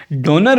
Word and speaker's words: Döner: और NER, तो इसको आपने सॉफ्ट थोड़ा प्रोनाउंस करना है, डोनर, ठीक है। डोनर, ज़्यादा इसको यू भी नहीं करना, यानी डोनर भी नहीं कहना, लेकिन डोनर, ठीक है। मगर ये डोनर हरगिज़ नहीं है, ठीक है।